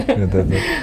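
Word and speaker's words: knee: И очень многие, кстати, забывают про то, что у нас есть вот эти silent letters, в том же самом слове колено. Русские говорят через К, и это ужасно Да, неправильно. кни.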